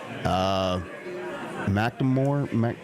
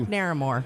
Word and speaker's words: Naramore: And also Mark McNamore. Again, my pronunciations are No, off. Mark? I will look it up. So I have to. Mark Naramore. Naramore, that's it.